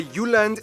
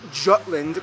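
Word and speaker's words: Jylland: Denmark is made of the you land not Jutland peninsula that connects to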